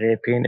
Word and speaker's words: Repin: uh it's just our his name is ilya repin it's just r e p i n but